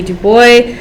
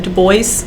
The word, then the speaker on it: Du Bois: i think i think my professor in college said dubois okay so wb du bois if we say that wrong talk to a professor